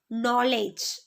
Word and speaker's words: knowledge: Then the letter K is silent when it comes before N at the beginning of a word. For example, knife, know, knowledge. Then the letter N is